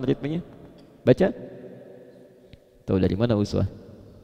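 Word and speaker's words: أسوة: Kalau Anda main ke sebagian negara di Timur Tengah, mereka bacanya iswah. Baik. Riwayat Warash Qalun bacanya iswah. Di Libya dibaca iswah. Di Maroko iswah. Aljazair ya, daerah-daerah Afrika Utara bacanya iswah. Jadi yang betul iswah atau uswah?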